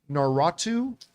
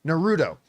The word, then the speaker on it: Naruto: wants to do uh like the I always mispronounced it naratu Nar what's that narut Naruto this Naruto thing that that people are excited